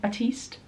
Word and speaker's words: Batiste: like the Batiste one Batiste and that's how you pronounce it I think it's like